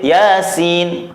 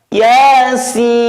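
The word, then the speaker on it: يس: Lah sinnya harus panjang sepanjang 3 alif. Kita praktekkan. Yasin. Tidak boleh Yasin, tidak boleh. Maka harus panjang Yasin.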